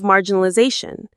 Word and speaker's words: marginalization: and painful problem of marginalization. Let's pause on this word marginalization. Mar jin na la l z shun. Marginalization. Another long one. The main stress is on that zah syllable near the end.